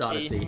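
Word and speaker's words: Odysee: onto a place called odyssey e yeah it's pronounced odyssey as in holy yeah try to put emphasis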